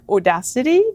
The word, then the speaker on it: audacity: So people ask me, how do you pronounce Odacité? It's like audacity.